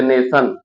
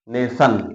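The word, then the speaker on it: nation: शब्द के अंत में टी आई ओ एन आता है तो उच्चारण सा होता है। जैसे नेशन, नेशन, यन के बाद आई ओ एन आया है, इसका उच्चारण क्या हो गया?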